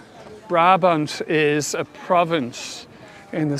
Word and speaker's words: Brabant: means the monkey from Brabant. Brabant is a province in the south of the Netherlands. And I always think it's so funny. In Dutch you say Brabant, in French it's Brabant. Definitely sounds better in French.